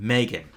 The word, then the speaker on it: M3GAN: Came out with Megan, spelled with a 3. Those two fused together and they made Megan.